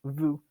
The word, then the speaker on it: vous: You don't pronounce the S in the end. It's just vous. That is a more formal way to say you. So you can use vous when you're talking to